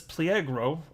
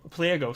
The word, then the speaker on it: Pliego: for generations ricardo salinas pliegro pliego sorry i'm i'm sure if i'm saying it right there's definitely not an r in there though but anyway he's the